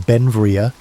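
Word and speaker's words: Beinn Bhreagh: Pronounced Benvia, Belle became an American citizen in 1882, but his name meaning beautiful mountain in Scottish Gaelic showed his Scottish heritage.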